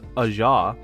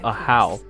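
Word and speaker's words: Ajaw: It's a ja. That's how they say it in the game. Very well. I could make a comment on knowing. I like calling him Aja, but it's a how.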